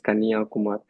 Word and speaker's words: Kanyakumari: You can see the sunrise and sunset from the same point in Kanyakumar. So the pronunciation is Kanyakumar.